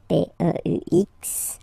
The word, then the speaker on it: peux: Okay, P-E-U-X. Okay, you don't pronounce the final X.